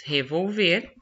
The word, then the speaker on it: revolver: Gente, aqui na 2, nós temos revolver e revólver. Sílaba tônica aqui é o ver e aqui a sílaba tônica é o vol, tá?